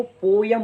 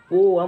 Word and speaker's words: poem: जो दूसरा शब्द है, ज़्यादातर लोग इसको पोयम पढ़ते हैं, पोयम, लेकिन पोयम रॉन्ग प्रोनाउंसिएशन है। इसकी राइट प्रोनाउंसिएशन पोअम होती है। जी हाँ, पोअम, पोअम।